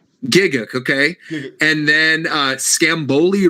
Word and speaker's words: Gigguk: Gigguk, okay. Gigguk. And then Scamboli Reviews, who I've never even heard of before. Yeah. Look at Roger, you, Jay. Not personal- even on the list. Personal opinion, Gigguk would not be entertaining.